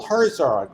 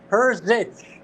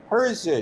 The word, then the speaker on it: Herzog: Paul Herzog, right? Am I saying it right? No, but that's okay. It's Herzich. Herzig. Herzich. Right. Rhymes with bitch.